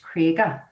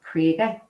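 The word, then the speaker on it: Cregagh: and never struck me why we called the krieger even though it's spelled c r e a c r e g a g h krieger but as locals we all call it crater and that's because it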